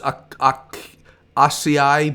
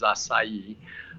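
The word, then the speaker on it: açaí: We had to look it up, to be honest with you, but the proper pronunciation is acai. Acai, okay. Acai, it's a Brazilian berry.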